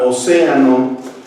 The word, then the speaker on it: océano: La sílaba tónica de la palabra océano es la antepenúltima y la subrayamos en color rojo.